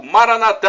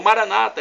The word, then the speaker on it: Maranatha: do dialeto de Jesus o aramaica Maranatha a e como dizemos nós católicos ou Maranata é como dizem nossos irmãos separados os evangélicos ou protestantes não importa a pronúncia significado é o mesmo